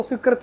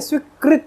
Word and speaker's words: स्वीकृत: मैं इसको स्वीकृत पढ़ता था। स्वीकृत स्वीकृत हो गया भाई मेरा मेरी कोई एप्लीकेशन मैंने कहीं दी थी वो स्वीकृत हो गई जबकि स्वीकृत नहीं है स्वीकृत है कृत कृति सेनन हीरोइन